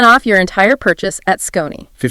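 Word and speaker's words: Skoni: Yes, this segment is also brought to you by Scon. That's S K O N I pronounced Scon.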